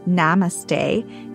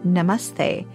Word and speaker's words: namaste: Hi, it's me, Nina, and today we're going to learn about the word namaste. It's not pronounced namaste, it's pronounced namaste, and it's a Sanskrit word that actually means bowing to you or I bow to you.